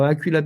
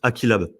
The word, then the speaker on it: AqeeLab: Je te reprends juste sur la prononciation. C'est pas grave. Ouais, dis-moi. Mais en fait, c'est normal parce que le nom, j'avoue, il est un peu tordu. Donc, c'est juste Aquilab, tout Alors, simplement.